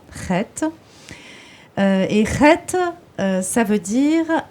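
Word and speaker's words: חית: On le prononce comme ça, Chet.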